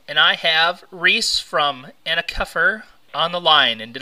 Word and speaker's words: Ana Kefr: Rock addict radio and I have reys from anak cuffer on the line and did I pronounce that right you did thank you wow